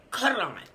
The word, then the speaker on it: Quran: The word Quran. That Quran. That is the pronunciation.